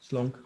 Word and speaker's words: Slonk: Did I pronounce that correctly? Is Slonk? Slonk? Slunk.